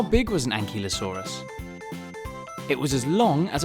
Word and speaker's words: ankylosaurus: you say that again an key low saw russ how big was an ankylosaurus it was as long